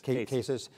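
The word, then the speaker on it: CASIS: right in thinking that Cassis is that the right pronunciation cases that is part of the I've spent too much time overseas I guess so I'll call cases that it's part of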